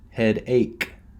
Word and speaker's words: headache: Even though there's a ch, we do not pronounce it ch. We pronounce headache.